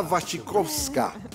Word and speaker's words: Wasikowska: Y a diferencia de este gritón que lo dijo muy mal, en Sin Escape sabemos que es Mia Wasikowska.